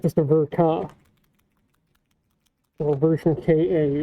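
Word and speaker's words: Ver.Ka: just a verka or version k-a which is apparently the appropriate proper pronunciation of vanica uh the version ka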